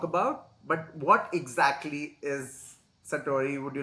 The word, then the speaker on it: Satori: you mentioned a term called Sattorii or Sattorii I don't know how to pronounce it but correct that's correct Sattorii is fine and it was very